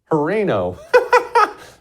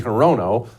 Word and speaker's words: Hirono: Yeah, Horino. Her name's Mazie Hirono, but don't feel bad for her getting her name mispronounced.